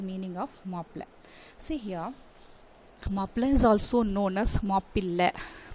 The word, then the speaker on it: Mappila: Okay children, about this definition, Mappila, you have to pronounce like this, Mappila Peasants Mappila Rebellion.